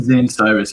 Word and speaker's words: Zane Cyrus: brother your name is again I want to pronounce it right my I'm Zane Cyrus yeah I'm with the Hamilton Z okay Zay